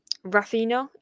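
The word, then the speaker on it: Raphinha: I would take Raphina.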